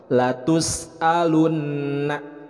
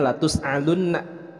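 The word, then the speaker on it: لَتُسْأَلُنَّ: Latus'alunna. Nah, di sini ada hamzah, jadi jangan sampai dibacanya latus'alunna. Jadi bacanya harus jelas latus'alunna.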